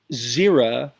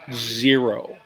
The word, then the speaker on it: Xeri: Well, in reality, Xera, not zero. Xera, X-E-R-I, is the Greek word for dry.